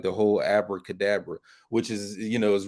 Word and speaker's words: Abracadabra: speak like the whole Abracadabra which is you know is really afro cadaver it's supposed to be pronounced with a V instead of a b and that's something you